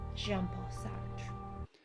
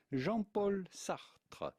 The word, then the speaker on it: Jean-Paul Sartre: She and her lover, Jean-Paul Sartre. Jean-Paul Sartre. Jean-Paul Sartre. It'd be fine in English or American to pronounce Jean-Paul Sartre.